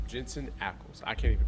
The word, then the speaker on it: Jensen Ackles: Well, because of the fact we're talking about Jansen. Jensen. Jensen That's why I Ackles. couldn't pronounce. I can't pronounce that name. Jensen Ackles.